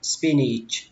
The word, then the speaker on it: spinach: Cái âm này âm A, tuy nhiên khi mình đọc thì mình đọc là thành âm Y các bạn ạ. Nó nghe tương tự như âm Y vậy đó.